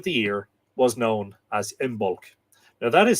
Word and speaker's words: Imbolc: this point of the year was known as imul now that is spelled i b o l c and there